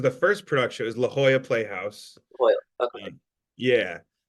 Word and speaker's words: La Jolla: It was La Jolla Playhouse. Boy, okay. Yeah. I called it La Jolla for about 15 years before somebody corrected me that I was saying it wrong.